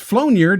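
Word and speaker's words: flaugnarde: people at home of course right a flowniard pronounced flownyard is known as flownyard flow near flonird or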